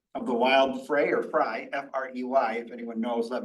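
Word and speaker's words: Frey: One of the things that happened is that the board approved the sale of the Wild Fray or Fry, F-R-E-Y, if anyone knows, let me know, for $325,000.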